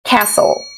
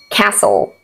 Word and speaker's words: castle: aumn autum column column s n letter T is silent fast fasten listen listen s d e letter T we have castle castle whistle whistle